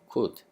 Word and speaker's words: could: could. 여기 L 묵음입니다.